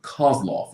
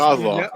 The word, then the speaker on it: Kozlov: Kozlov, I think is how you say it. Yeah, Kozlov.